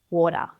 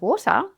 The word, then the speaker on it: water: Have you ever noticed how some Aussies might pronounce the t sound as more of a really soft duh? Think of water. Probably the most common one, bottle of water. You might hear bottle of water, but more commonly is bottle of water.